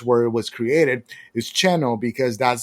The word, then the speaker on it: Xeno: One of them, it's called Xeno as Xenomorph. The pronunciation for the game in Spanish where it was created is Cheno, because that's the pronunciation for South in Mexico.